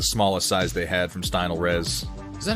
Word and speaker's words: Stynylrez: picked up the smallest size they had from Stynylrez. Is that how you pronounce it? Stynylrez. Yeah, Stynylrez.